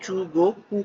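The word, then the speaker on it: 中国: China, China को Japanese में चूगोकू कहा जाता है, चूगोकू कहा जाता है, चूगोकू।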